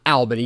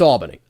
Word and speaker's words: Albany: And yes, guys, it's pronounced Albany, not Albany, even though I know it's spelled with one L, and you'd think it'd be Al, not all with two L's.